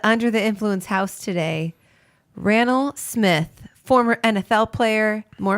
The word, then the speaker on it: Raonall: more importantly which is it was Randall no there's no D and now every time someone says hi my name is Randall I'm like you're saying it wrong but more importantly Washington